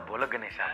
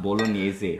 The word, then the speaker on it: bolognese: Pasta bolo ganesha, bro. Bro, it's pronounced bolognese.